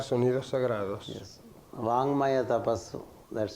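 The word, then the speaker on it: वाङ्मय तपस्: ¿Y cuál es la importancia de pronunciar sonidos sagrados? Yes. Vangmaya tapasu.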